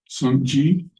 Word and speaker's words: Sokukoji: SokukoJi.